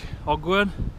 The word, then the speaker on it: Ogwen: There's Lake Ogwen. That's how you pronounce it.